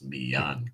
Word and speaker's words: Millan: See, there's two L's, so you would pronounce it like a Y. It's Millan Castro.